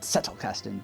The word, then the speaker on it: Zettelkasten: Now you might prefer to pronounce it Zettelkasten, but I like that Zettelkasten because, as one of my German teachers told me back in the day, if there isn't spit on the mirror when you're using the letter Z in German, you're not using German.